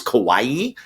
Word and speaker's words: Kawaii: I think it's Kawaii because it's spelled like Hawaii. Kawaii Metal, which means cute metal.